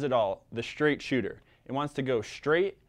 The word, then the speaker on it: Chuter: So the name kind of says it all, the Straight Chuter. It wants to go straight and fast. And it's spelled shoot like C-H-U-T, kind of like down a chute or a couloir, because